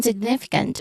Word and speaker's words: significant: Okay, so we focus on significant, which has where the second syllable is stressed, nif. So signif, where it has a short e sound.